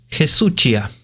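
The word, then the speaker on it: ἡσυχία: En ambos versículos, la palabra que la RBA traduce silencio es en griego Jesuchia. Se escribe H-E larga S-U-C-H-I-A.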